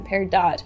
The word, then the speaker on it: peridot: pronunciation of parido so some people in the gem industry also call it paridot most people call out Paro so we're going to stick to parido for this episode but we do want to acknowledge you Steph Universe fans and other people who like to use the par do pronunciation so this is August